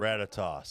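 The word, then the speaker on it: Ratatoskr: Ratatoss.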